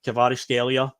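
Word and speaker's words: Kvaratskhelia: Natalie Winger that nobody can pronounce his name kavar scelia I believe it's pronounced yes kavar scelia yeah I only the commentator say it loads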